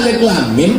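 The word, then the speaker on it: الم: Alama. Padahal alif lam mim bacanya.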